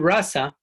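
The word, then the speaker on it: rāsa: And the theologians in the Chaitanya, in our school, in the Gaudiya Vedanta, they consider that the word rasa, because having a long A in the context of rasa lila, is the culmination of all rasas.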